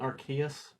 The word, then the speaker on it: Arceus: Arceus? Is that how you say it? Arceus.